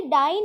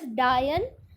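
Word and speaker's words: dine: अब ऐसे अगर मैं बोलूँ डाइन लायन तो भी राइम नहीं करा, बट अगर मैं इसको प्रोनाउंस करूँ एज डायन तो वो मेरा नीचे प्रोनाउंस करेगा लायन के साथ।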